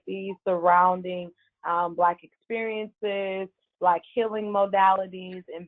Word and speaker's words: BBLVK: It is BBLVK, pronounced Black, Jewel, JEWEL, and it's available on Spotify, Apple Podcasts, Google Podcasts.